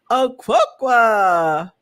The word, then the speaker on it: Okonkwo: Please welcome to Friday Night Live, my new friend, Peter Okonkwo.